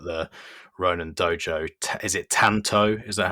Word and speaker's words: Tanto: it earlier but the ronin dojo is it tanto is that how i pronounce it yup yeah the tattoo yep pretty